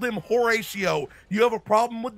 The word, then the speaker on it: Horatio: Yes, I called him Horatio. You have a problem with that? The no. Golden Horatio? I mean, you know, his name rhymes with fellatio.